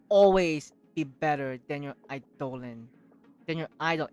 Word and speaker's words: eidolon: Also, getting characters will always be better than your idolin. Than your idol. How do you say it? Idolin? Eidolon if you're F2P.